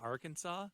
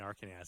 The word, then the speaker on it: Arkansas: Helena, Arkansas? Yeah, You mean Arkansas, don't you, Brian? I do. That's how it's spelled on the card.